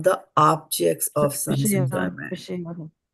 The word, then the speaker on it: विषया: Everybody unmute yourself and say viṣayā. Viṣayā. Yeah. So it is viṣayā and not viṣayē.